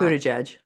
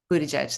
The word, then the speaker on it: Buttigieg: Buttigieg. Buttigieg, thanks.